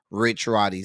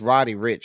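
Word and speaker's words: Roddy Ricch: me end of quote Rich Rody said or is it Rody Rich am I saying this man's name wrong it's Rody Rich I'm sorry I don't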